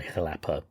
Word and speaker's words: Xalapa: It's named after Jalapa anyway, which is spelled Xalapa, and generally you say Jalapa, but sometimes it's jalapa.